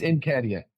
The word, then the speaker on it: Nketiah: It's Nketiah. I just wanted to make sure I haven't been saying his name wrong.